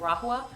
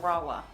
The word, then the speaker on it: Rahua: I used to pronounce it Rahua, because of the H, but it's actually pronounced Rawa.